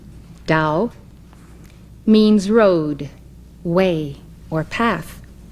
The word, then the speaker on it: Tao: the tao is the key to our immortality dao in chinese which as you know is spelled t a o dao means road way or path tao has also